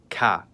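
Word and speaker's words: к: In English, it's known as K and in cerillic, it's called ca.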